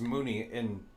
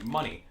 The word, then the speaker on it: Money: Like, Money is and it's pronounced Mooney from like where it's actually used as a name. Like in Eastern India and Bangladesh, I've got a lot of people asking me, am I from there because my name is Mooney? But no, I go by Money. That's just always how I pronounced it.